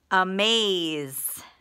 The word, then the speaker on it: amaze: Is the schwa, open syllable exception. And maze, M-A-Z-E, is a vowel consonant E with a long A and a silent E.